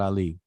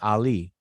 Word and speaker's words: Ali: it means you know like the very word muhammad muhammad ali like we we say it wrong it's not just said plainly like muhammad that's not how it's pronounced in arabic properly muhammad even muhammad ali the way we pronounce ali that's not how arabic speakers say that word or that name you know so as